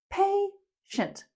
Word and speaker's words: patient: Patient. And be careful, the pronunciation is not pa, it's pay, like you pay money.